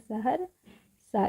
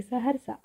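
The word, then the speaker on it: सहरसा: सहर स इसीलिए स और ह का उच्चारण में अ आ रहा है। और र बिल्कुल थोड़े समय के लिए पढ़ उच्चारण इसका हो रहा है। और लास्ट में क्या है? स और अ क्या हो गया? सा। लास्ट में क्या है? सा है। देखिए स हर सा। स हर सा। र का उच्चारण बहुत थोड़े समय के लिए की जा रही है। इसीलिए आर के साथ ए नहीं लिखी हुई है।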